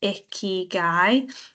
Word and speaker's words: Ikigai: Now, Ikigai is pronounced Ikigai, and it's a Japanese philosophy that helps people find a sense of purpose.